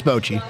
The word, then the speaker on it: bocce: You can go to Milo's, across the street from their office, play a game of bocce, and it's pronounced bocce. It's not bocce. It's Bochy. It's bocce.